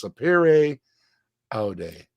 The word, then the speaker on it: Sapere Aude: The verbal pronunciation thing over and over and over and over. So it's Sapere Aude.